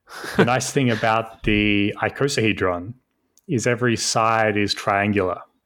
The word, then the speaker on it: icosahedron: how do you say it i sell-- hydron icosahedron icosahedron okay I could say so so what is